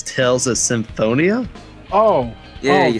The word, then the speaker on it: Symphonia: unreal double seven here but it's tells us symphonia oh yeah you said it right yeah i